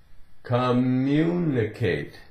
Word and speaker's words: communicate: the way it's said the two M's really they just run together right communicate communicate just like when you get to the N communicate right you hear one n there is only one n communicate now what's communicate